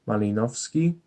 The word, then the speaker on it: Malinowski: It's Bronisław Malinowski. The W in Malinowski, it makes kind of a V sound.